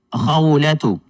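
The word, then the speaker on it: خولة: Kung hindi po natin bibigkasin yung ta'ul marbuta na may dhamma, magiging ha po ang kanyang tunog.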